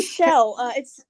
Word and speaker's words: Chell: Yes, it's actually Shell. Excuse me. She's named after the character from Portal, but we found a Shell gas station, so it's spelled like. Oh, okay, I got Shell, you. But we say it like Shell.